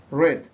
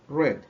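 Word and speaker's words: read: para el pasado participio la diferencia es la pronunciación aquí decimos ruiz aquí red y aquí red entonces sería leyó leído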